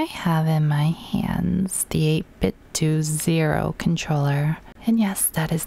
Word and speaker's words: 8BitDo: on everything I have in my hands the 8-bit to zero controller and yes that is the pronunciation according to their YouTube channel because Nintendo 8-bit dough whatever so this controller I like it I